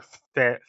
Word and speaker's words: Fall: Uh, is it fall or fall? assume it's like there's two L's, but there's only one. It's pronounced like it's fall.